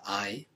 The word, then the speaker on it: hay: Now careful with the pronunciation here, because I, H-A-Y, is pronounced a bit like the English word for I. So the H is always silent, I, and you can remember I as a way to remind yourself of how to pronounce that. So we've got tengo, I